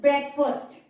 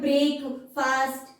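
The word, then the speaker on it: breakfast: है ये सबसे पहले this is ब्रेकफास्ट नॉट ब्रेक फास्ट इसका प्रोनंसिएशन ध्यान से याद रखना इट इज ब्रेकफास्ट okay so ब्रेकफास्ट lunch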